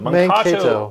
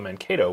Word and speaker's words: Mankato: Mankato is the correct pronunciation of the word, but when European settlers came over, they called it Mankato, which means blue skunk instead of blue earth.